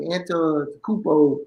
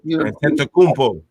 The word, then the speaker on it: Antetokounmpo: There's no difference between him and it's hard to say his name, Antetokounmpo. Antetokounmpo.